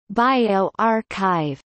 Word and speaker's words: bioRxiv: BioRxiv, pronounced BioRxiv, is an open-access preprint repository for the biological sciences co-founded by John Inglis and Richard Sever in November 2013.